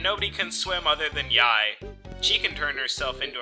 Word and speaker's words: Yae: meet people we meet Yai not to be mispronounced yay although that is my